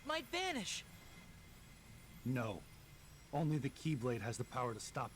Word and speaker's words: Keyblade: I know it's just pronounced the keyblade, but that's how it always comes up in the subs as Xlade.